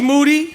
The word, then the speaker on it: Moody: Rapaport this is moody yes yes last name rhymes with duty of course and we